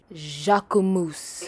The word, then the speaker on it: Jacquemus: differ but after further research on how to pronounce this brand it is Jacques ooh moose yes I know we see Jacques moose Jacques